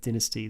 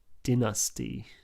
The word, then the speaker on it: dynasty: talked about with dynasty the uk slash oz pronunciation is dynasty where while the u.s pronunciation is dynasty the american pronunciation is probably that way because we pronounce dynamite and dynamic in a similar way yeah that's a it's